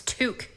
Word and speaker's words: toque: number 10 way to piss off a Canadian mispronounce this word it's toque you Godless heathens ah hey how's it going